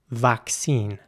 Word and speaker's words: vaccine: know in the comments in British English the word would be pronounced vaccine and again the a is pronounced like an ah vaccine in American English it would be more like vaccine with an air sound once again so I